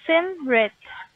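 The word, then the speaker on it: Simrit: jennifer you said your name's sandra no it's sim bret could you help me pronounce that should i yeah should i spell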